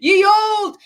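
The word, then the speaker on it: Ye Olde: candy shoppy instead of you don't pronounce the e that's what I'm going for Ye Old 12 bells ring nigh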